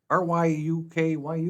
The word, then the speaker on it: Ryukyu: R-Y-U-K-Y-U?